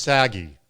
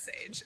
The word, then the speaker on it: Sage: And I'm assuming the last name is pronounced Sagi. Yes? That was that one really is Sage.